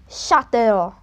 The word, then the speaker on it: Châteauroux: Then its spelling in English is that N-I-M-E-S, and it's separately pronounced as N, majuscule, E-M-E-S. Then we have the eighth one, which is Châteauroux.